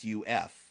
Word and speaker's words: Yusuf: And your name itself, it's not Yusuf, it's Yusuf, right? Because there's a U there. It's Yusuf.